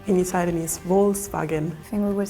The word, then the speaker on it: Volkswagen: Like when I hear the other pronunciation, it's kind of funny because it's like, for me it sounds like a W in the beginning. So it's not like, oh, like people, like Volkscar. It sounds like Volkscar, so like wolf kinda.